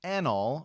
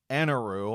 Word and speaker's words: Enel: I'll probably be saying Eneru, that's how they pronounced it in the dub. That seems to be sort of the English way of saying it, but I do also know that it is called Enel, so...